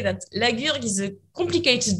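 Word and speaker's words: La Gurgue: Usually I like to say that Laguergue is a complicated name to pronounce because Laguergue, it's very guttural, but the wine is completely, is the opposite.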